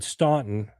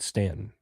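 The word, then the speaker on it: Staunton: direction, if they said Stuntton, which is what it looks like, they would know that you were from the north and that you were Yankee. So, the South, they pronounce it Stanton.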